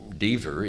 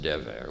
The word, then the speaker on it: Dever: sanctum the de beer now my name deever in israel unfortunately is pronounced devere which means plague or pestilence so i don't like